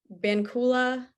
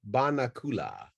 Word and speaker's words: banakula: never heard of before bankula did i get that right or did i butcher it you butchered it vamakula banakula where does that come from it's actually bana banakula banakula and what's the origin